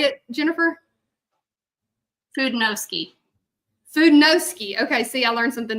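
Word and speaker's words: Fudenosuke: to get real fancy, it's that Fudensuki, I think is how you pronounce it. And it is very small. Say it, Jennifer. Fudenowski.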